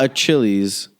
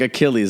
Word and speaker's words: Achilles: Not a Chili's, it's Achilles Art Cafe. Bruh. I literally was like, how do you pronounce this? He's like, Achilles.